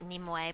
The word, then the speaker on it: Nimue: I prefer to pronounce it Nimue, but primarily it's Nemu, so I'm willing to burn half of these.